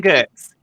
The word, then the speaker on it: Giertz: Yeah, it's pronounced Gertz.